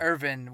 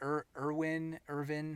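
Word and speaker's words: Erwin: a lot of what Irvin, however you say it. I say Irvin because Mhm. in German the W's are pronounced like B's.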